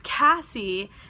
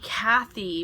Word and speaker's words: Cassie: My name is Cassie, and a lot of people call me Kathy because they mispronounce my name.